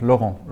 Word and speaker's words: Laurent: Laurent. Laurent. Yes. Oh, like the French player from Arsenal, Laurent. Similar to that.